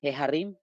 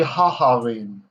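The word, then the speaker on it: ההרים: It's like the mountains, Heharim. Nope, that one we say haharim, because it's not the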